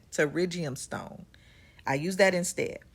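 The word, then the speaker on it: pterygium: I use what we call a terigium stone. It starts with a P, but that P is silent. Terriium stone.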